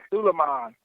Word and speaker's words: Sulaiman: Sulaiman. Yeah, I butchered it anyhow.